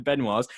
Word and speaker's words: Benoit: be associated with the benoits so it's like benoit but it's like the teaser the t's ain't pronounced in french mate i know what